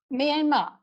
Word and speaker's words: Myanmar: How do you pronounce it? Myanmar.